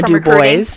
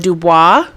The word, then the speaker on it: DuBois: But it was spelled like Ivana Dubois, but it was pronounced Ivana DuBois because I like to do boys.